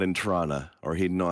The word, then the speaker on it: Toronto: It's pronounced Trana. Thank you very much. Trana.